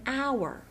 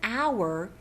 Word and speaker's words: hour: I will be there in about an hour. The word hour has a silent H.